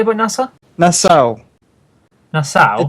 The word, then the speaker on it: Nassau: Nassau. Nassau? It's like a. I Yeah, think it's like it's a place in the Caribbean.